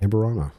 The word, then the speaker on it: Amburano: Amburano.